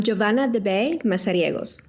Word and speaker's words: Giovanna de Beij: your full name my full name well I'm joavan de MOS perfect love it uh well well how long